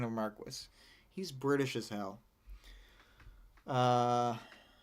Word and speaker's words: Marquis: Um, it's specifically not marquee and it is Marquis like the British pronunciation and that's also it's also um I believe shioalier and not chevalier.